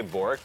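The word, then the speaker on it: BOTRK: We all say Bork. The T is silent.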